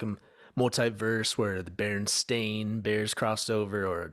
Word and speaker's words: Berenstain: yeah yeah i remember the pronunciation was always berenstein and i thought maybe it's berenstein but i never thought berenstain yeah i've never and look at it now it's an a so i'm like where